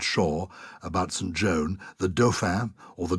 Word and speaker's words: Dauphin: Joan, the Dauphin, or the Dauphin, as they sometimes pronounce it, is a central character.